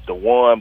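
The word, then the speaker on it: Duane: My actual name is Dwayne, but it's spelled Dwayne. Okay. D-U-A-N-E.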